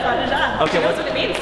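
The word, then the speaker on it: pas de chat: Pas de ja? Is that how you pronounce it? Pas de ja? Yeah, pas de ja.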